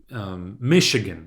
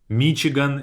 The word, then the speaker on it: Michigan: Especially, let's say, Michigan, right? In Russian, I would say Michigan on the A.